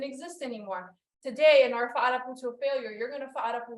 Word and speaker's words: Fa'arapu: To pronounce the word, it is Fa'arapu, Fa'arapu. So not Farapu, Farapu, Fa'a. You gotta hit the apostrophe, which in Tahitian it's called your eta. It breaks those two letters, A'a, Fa'a.